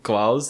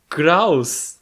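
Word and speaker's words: Krauss: So actually the correct pronunciation is Kraus. I'm not telling you you need to pronounce it with an R.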